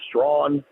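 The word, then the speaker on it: Strachan: Straen, who I I've been told is actually pronounced Strawn, which is remarkable considered spelling.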